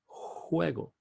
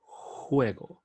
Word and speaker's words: juego: The J in Spanish will sound juego, as opposed to the usual pronunciation of J as in John in English. So always when you look at that J is juego.